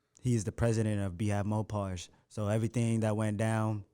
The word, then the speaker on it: Mopar: Mopars. I got. Look, my apologies. I forget what I said on the first video, but they're like, no, it's pronounced Mopar. You said And I was- Mopars.